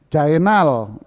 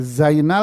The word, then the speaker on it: Zainal: Karena huruf zai dibaca jadi apa? Jim. Dengan di sini ada 2 jim ketemu. Bacanya gimana? Ayo, bulet muter mulutmu akhirnya Mas ya. Bebelit mulutmu. Jainal. Jadi Zainal jadi Jainal.